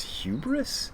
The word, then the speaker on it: hubris: But there is a certain kind of, I think the word is hubris. I don't like these giant words. Hubris is actually only 2 syllables, but it's this word I don't quite understand.